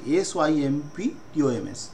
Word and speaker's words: symptoms: Features of a disease is called সিমটম, উচ্চারণটা ভালো করে দখল করবে, SYMPTOMS।